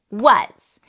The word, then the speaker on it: was: I am going to pound the word was was then I'm going to Tap Out The Sounds